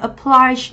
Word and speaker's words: apply: Ở đoạn B thì chúng ta có từ này là trọng âm sẽ rơi âm tiết thứ mấy? Thứ hai. Vì theo quy tắc thì động từ mà, rơi âm tiết thứ hai, từ này apply nó có nghĩa là bắt buộc, đúng không?